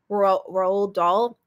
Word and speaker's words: Roald Dahl: Roald Dahl. I'm still not over the fact that that's how you pronounce his name.